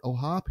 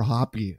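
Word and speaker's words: O'Hoppe: And the same can be said about O'Hop here, or Hoppy, I believe is the way we're supposed to say it, or the way it's actually pronounced.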